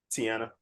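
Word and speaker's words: Teyonah: Tiana. Yeah. Tiana, yeah.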